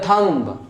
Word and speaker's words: thumb: थंब, ये गलत है, क्योंकि रूल क्या होता है, बी से पहले अगर एम आता है तो बी हो जाता है साइलेंट, तो आपको पढ़ना है इसको थंब, ना कि इसको थंब पढ़ना है।